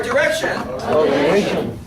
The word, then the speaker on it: direction: you did that well you don't want to roll your R in English right so in Spanish you grow your R all the time in English never I love you little